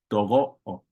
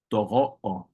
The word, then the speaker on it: togo'o: So your mom's dad or your maternal grandfather, togo'o, togo'o. But that T changes to a D when you want to say my grandfather, irogo'o, irogo'o, irogo'o.